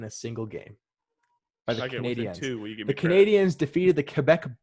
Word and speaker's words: Canadiens: Achieved by the Montreal Canadiens, and that's how they say it. They don't say Canadians, they say Canadiens.